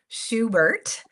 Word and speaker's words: Schubert: I asked her to send it to me phonetically. Schubert.